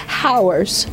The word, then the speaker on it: hours: should bake for three hours does that sound right no so we know that the H is silent I like Mrs Mo